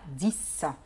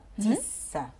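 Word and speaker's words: dix: بعدين عندنا رقم 10 اللي هو ديس. الاكس عندي هنا اتنطقت برضو اس زي سيس. داكور. ديس.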